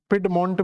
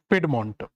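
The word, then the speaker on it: Piedmont: आपको मिलता है जिसका नाम आप देखोगे तो पिड मंट करके आपको एक स्ट्रक्चर मिलेगा तो अपलेसियन पर्वत के बिल्कुल दक्षिणी हिस्से पर जाओगे तो पेड मंट करके आपको एक स्ट्रक्चर मिले जाएगा पिड मंट भी बोल देते हैं इसको पिड मंट तो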